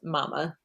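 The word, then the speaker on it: Mamah: named mary putin borthwick her nickname was mama it's spelled m a m a h which throws me off so mary or mama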